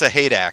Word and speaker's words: Sahak: we're going to remember it's sahak just like it's spelled theak yep saying that